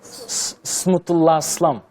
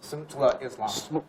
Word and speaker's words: Smutullah Islam: I'm going to introduce this young gentleman, Smutullah Islam. Yeah. Excuse me, can you pronounce that a bit slowly? Smutullah Islam in Uyghur. Smutullah Islam. Smutullah Islam.